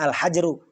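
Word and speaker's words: الحجر: jangan sampai Terbalik ya ya dibacanya alhajru alhajru ya fathah awalnya sukun tengahnya jangan sampai kasrh awalnya ya kan walaupun Suk sukun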